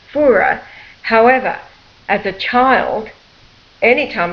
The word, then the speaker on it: Furer: of course Adam's uh surname is actually fur f u r e r his grandfather was a Swiss German now his name is pronounced fura however as a child anytime we went any